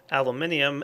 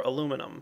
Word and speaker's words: aluminium: a generator surround with uh aluminium ingots or aluminum depending on how you want to pronounce it uh that guy is